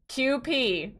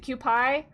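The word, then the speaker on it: Kewpie: Uh QP was I was saying it right then. I did. I said QP first, then I was like, wait, is it QI?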